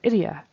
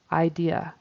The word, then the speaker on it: idea: instead of different and idea he said idia really fast so fast that it almost sounded like Ira so he has a short I I it needs to be an a long I idea idea and we definitely separate those syllables um between the the two vowels on the end Idea Idea first it